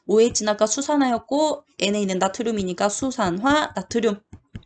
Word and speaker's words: 수산화 나트륨: 가장 대표적인 거 OH를 가지고 있는 물질 뭐 있냐면 NaOH라고 쓰고 이거 뭐라고 읽냐면 OH는 아까 수산화였고 Na는 나트륨이니까 수산화 나트륨.